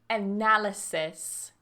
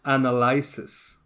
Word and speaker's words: analysis: people say ow automat automate automate automate 31 analysis aalis analysis now for the verb analyze